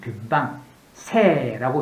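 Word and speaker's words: 塞: 근데 변방을 할 때 한 나라에서 국경선에 있던 최전방 그것을 이야기했다면 변방새라고 읽죠.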